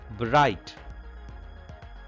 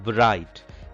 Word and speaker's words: bright: in this word whiteness bright gh are two letters which are silent and this word bright gh are silent here